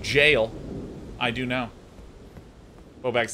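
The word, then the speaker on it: Evergaol: a bear did that enter the evergowl again that is pronounced jail i do know who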